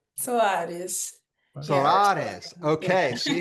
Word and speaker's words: Soares: Did I pronounce the last name right? Soares, is that right? Soares.